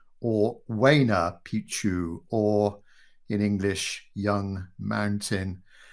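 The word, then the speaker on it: Huayna Picchu: Then coming forwards, this iconic peak here or monolith, we believe is called, got to pronounce it right now, Hayana Picchu or Waina Picchu, or in English, Young Mountain.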